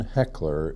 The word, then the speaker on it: Hechler: I'd like you to say your name and spell it and your current position my name is Ken heckler HEC HL er I'm Secretary of State have